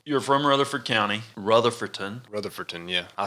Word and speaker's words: Rutherfordton: Did you say Rutherford, right? Yeah, I just shortened it. I said Rutherford on the show. Rutherford. And they was like, why didn't you say Rutherfordton?